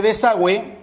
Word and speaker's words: desagüe: siguiente de esa web en el caso de desagüe encontramos web y aquí a diferencia de quiso no es cierto notamos un signo ortográfico estos dos puntos sobre el ojo cuyo nombre es diéresis y la diéresis implica que la uv se pronuncia por lo tanto si